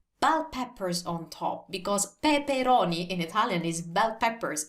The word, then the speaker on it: peperoni: patate patate bell peppers peperoni peperoni now have a look at this first of all it's spelled with only one p pe peroni so it's not pepperoni and second i know